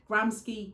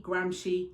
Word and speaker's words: Gramsci: cie media study specification you're going to find a million and one pronunciations of this gramsky gramshi hegemony hegemony for a level the pronunciation is not hugely important as long as you